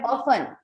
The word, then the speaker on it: often: Often में T silent रहता है often हमेशा. he- keep this thing in mind. ऑफ्टन में टी साइलेंट है. ऑफन.